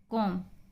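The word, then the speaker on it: comb: कॉम, B silent.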